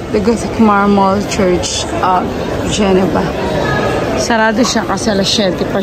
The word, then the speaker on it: Genova: Ito na talaga yung Geneva. Geneva whatever. It's pronounced as Genova in Italy.